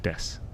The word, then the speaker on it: Desu: of death or well it's spelled Desu but it's just generally said death he's usually death car